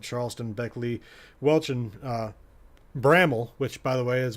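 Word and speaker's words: Bramwell: uh Point Pleasant Charleston Beckley Welch and uh Bramble which by the way is what I've learned is the proper pronunciation of what I thought was bromwell I got a I got some messages from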